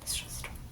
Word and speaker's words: Shusterman: Shusterman.